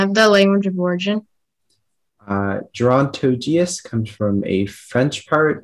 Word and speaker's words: gerontogeous: All right, speller 92, your word is gerontogeous. Gerontogeous, can I have the definition? Gerontogeous means relating to the old world or the Eastern Hemisphere. Okay, gerontogeous, can I have the language of origin? Gerontogeous comes from a French part, a Middle English